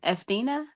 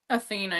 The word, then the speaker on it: Athena: E uh Etheina. How do you say her name? Athena.